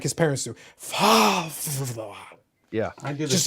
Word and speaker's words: Favre: Favre. Yeah, like I prefer to use it by like his parents do. Favre.